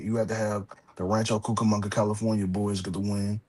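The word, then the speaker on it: Rancho Cucamonga: Yeah, most people can't ever say it. So it Yeah, it took me a few times to say it correctly. It took me a few time to say it correctly, but now I've known now I've learned this. Rancho Cukamonga, California.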